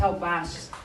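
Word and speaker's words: Halbwachs: Alguns pronunciam diferente, a pronúncia em língua portuguesa é Maurice Halbach.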